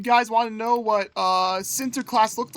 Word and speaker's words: Sinterklaas: It's pronounced Sinterklaas according to some Dutch YouTube videos I watch.